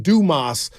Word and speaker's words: Dumas: getting name wrong it's Dumas yeah Dumas what I tell people do just do okay and then more in Spanish okay got I'm leave